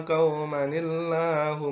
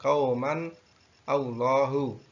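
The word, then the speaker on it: قومًا الله: Di dalam surat Al-A'raf ayat atau surat ke-7 ayat 164, cara membacanya adalah seperti itu, atau qaumanillah, tidak qauman Allahu.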